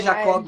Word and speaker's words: Jacob: tudo bom Henrique tudo bom primeiro eu tô pronunciando seu nome certo é Jacob mesmo fica mais chique do meu marido na